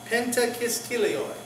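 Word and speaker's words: πεντακισχίλιοι: It's penta, then it's kappa iota sigma kis. Then it's chi iota lambda kil. And then it's iota omicron iota ioi. So it's kis kilioi. Penta kis kilioi.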